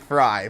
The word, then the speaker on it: Fry: now in another league, and I've always pronounced it Frey. We have been told it's Fry, but I've always said Frey, and you were the first guy I've met that pronounces it right. It is Fry, but it just sounds weird to say.